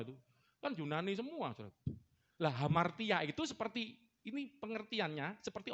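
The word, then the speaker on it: ἁμαρτία: Hamartia. Cuman tulisannya A, depannya alfa ya. Cuman kalau huruf hidup itu pakai H bacanya. Kayak Hono Coroko itu loh, mirip ya. Hono Coroko itu kan A. Jadi hamartia.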